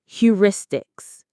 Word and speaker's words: heuristics: These shortcuts are called heuristics. Let me say that again. Heuristics. Pronounced heuristics.